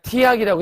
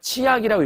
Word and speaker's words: 치악: 그러니까 이렇게 티읕과 이가 만나면 표기를 티읕과 이로 그냥 티악이라고 했지만 읽을 때는 그냥 치악이라고 읽으시면 된다는 얘기예요.